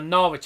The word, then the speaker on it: Norwich: Because our final 2 games are Norwich at home and Coventry away.